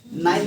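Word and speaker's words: Nile: देखना blue colour से line गया होगा, नाइल रिवर का, जिसको हिंदी में नील नदी आप लोग बोलते हैं, Yes, sir. उसको इंग्लिश में नाइल बोला जाता है।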